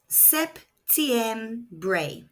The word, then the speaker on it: septiembre: Elon includes September pronounced Septm.